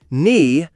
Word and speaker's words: knee: Knee, say knee. Always remember, when K comes before N at the beginning of a word, don't say the K.